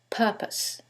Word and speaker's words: purpose: However, in the first one, it's the second syllable that's stressed, and in the second one, it's the first syllable, and that changes the pronunciation completely. The first word is propose, and the second word is purpose.